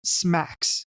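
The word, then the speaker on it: SMACSS: scalable and modular architecture for CSS pronounced smacks the idea here is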